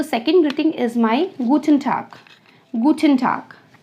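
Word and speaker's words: Guten Tag: तो second greeting is माय गूटन टाग।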